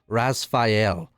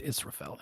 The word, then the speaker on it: Israfel: Also, I totally got the name wrong. I put Rasfael, like Rasfaeyel. It's because I said Rasfael. I meant Israfel is what her name is.